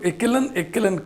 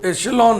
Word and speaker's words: echelon: एशेलॉन, इसको एकेलन क भी पढ़ते हैं लोग, आप नहीं पढ़िएगा। इसका जो उच्चारण है, प्रोनाउंसिएशन है, वो एशेलॉन है।